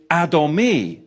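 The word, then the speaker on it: אדמי: Because when you look at the Hebrew, the Hebrew for radi is adomi. Adomi. And it's spelled olive dallet mem noun yod.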